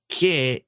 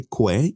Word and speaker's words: que: you want que te u is silent you don't say que you say que quieres what do you